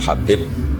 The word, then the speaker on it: Habib: Ada yang nulis Abi Abdurrahman Habib Asulami. Itu di harakatnya kitab itu ada yang nulis Hudab. Tapi yang benar Oh, nggih. Yang benar itu bacanya habib.